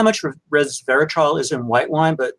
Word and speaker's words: resveratrol: So I think it's called resveratrol, which is, yeah, did I mispronounce it? What is it called? Yeah, that's right. Yeah, resveratrol.